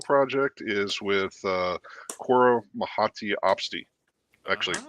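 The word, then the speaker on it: mouhotii: cor mahati opsy actually I think I mispronounced it's not miti I was reading somewhere I say yeah I was reading somewhere that it was named after a French yeah environmentalist and they were saying that the way they way the French would pronounce it was something like mushati like that so you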